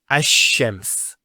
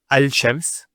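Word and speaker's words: الشَّمْس: And because they're very close, what happens is this lam is not pronounced. And what happens instead is the lam is pronounced as a sheen. So there's actually a shaddah here. So it's ash-shams, not al-shams.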